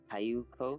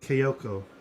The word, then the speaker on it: Kyoko: Kayuko? Is that how you say it? Kyoko.